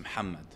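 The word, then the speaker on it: محمد: reason okay so like obviously in Arabic it's pronounced muhamad but yeah for people who don't speak like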